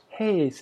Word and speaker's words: Hayes: My family name is Hayes, Hayes, but pronounced like haze, Haze, fog, confusion.